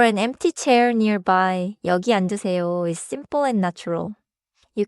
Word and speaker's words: 앉으세요: keep 앉으세요. smooth and do not punch the final syllable.